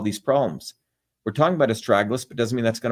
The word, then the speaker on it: astragalus: So again, as I started off, astragalus, that's the way you pronounce this, is known as a guardian root.